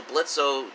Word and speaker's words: Blitzo: So Blitzo, just because he addresses himself as Blitz, just because the O is silent, it keeps the charade